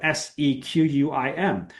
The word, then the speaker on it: Sequim: I live in a tiny little town called Sequim, Washington. If you looked up Sequim on a map, you would not realize that it says Sequim, right? It's spelled Sequim.